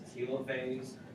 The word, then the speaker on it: telophase: to it as a telophase, and then so I looked it up. I looked up what the pronunciation was, and it's a hard E, long E sound, so it's telophase.